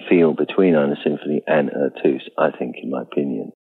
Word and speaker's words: Eux Tous: Well, it's pronounced Eux Tous.